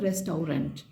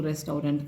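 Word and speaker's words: restaurant: हम लोग पढ़ते हैं रेस्टोरेंट तो उन्होंने रेस्टोरेंट मतलब उसको तो मैंने अपनी याद करने के लिए इसको रेस्टोरेंट करके कहा था बट सही शब्द है रेस्टर तो रेस्टर को स्पेलिंग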